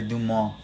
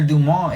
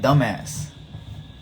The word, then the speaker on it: Dumas: if you didn't know if you didn't know how to pronounce it you might be inclined to pronounce it like dumbass and so it's alexander